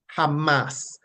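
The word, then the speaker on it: חמס: and it is pronounced Hamas Hamas Hamas Hamas like how you hear they say you know um Israel fighting against Hamas right it's pretty much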